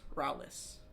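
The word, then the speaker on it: Raoulis: Rowlis.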